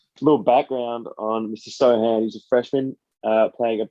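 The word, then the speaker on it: Sochan: Jeremy Sohan. C is silent, folks.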